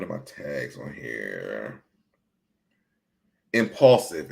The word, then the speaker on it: Impaulsive: Impaulsive. It's called Impaulsive. And Paul is spelled Paul, like impulsive.